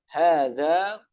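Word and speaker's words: هذا: Cara pengucapannya hadza. Hanya dibaca panjang. Ha danya juga panjang. Hadza.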